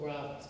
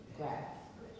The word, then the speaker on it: Greitz: Claudette is deeply honored that the foundation has chosen to name the inaugural Greatz Foundation, and I'm mispronouncing that, Greitz.